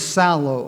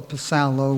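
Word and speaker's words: ψάλλω: The word is psallo or psallo, whether or not you pronounce the P.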